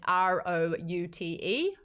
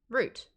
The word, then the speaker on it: route: Pailang asked how I said R-O-U-T-E, root. But I've also now, because I've been in America for so long, say route. So I don't know. I'm starting to not remember what I originally would say.